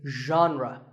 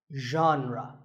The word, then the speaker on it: genre: would you say it the correct pronunciation is genre pay attention to the first sound it's like but you have to put your voice into it genre genre next up is actually